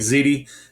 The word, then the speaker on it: Ziede: my name is zii my last name seems hard to pronounce just think of the bake pasta ziti you can call me ziti I'm cool with that uh but